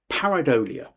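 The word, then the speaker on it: pareidolia: There's a word here and I'm still trying to work out how to pronounce it, but it's uh paridolia.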